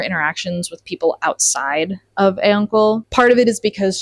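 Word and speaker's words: Auncle: I pronounced it A-Uncle. It's like A-U-N-C-L-E.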